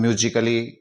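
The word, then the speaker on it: musically: रहा है तो स्टूडेंट्स यहां ए को हम साइलेंट कर देंगे और इसको हम म्यूजिकली पढ़ेंगे इसी तरह फिजिकली में ए डबल एल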